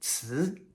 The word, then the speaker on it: 词: Si rhymes with ci.